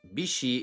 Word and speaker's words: bishi: The name Mitsubishi is a combination of mitsu, meaning three, and hishi, pronounced bishi in compound form, meaning water chestnut, a word traditionally used in Japanese to describe a diamond or rumbos shape.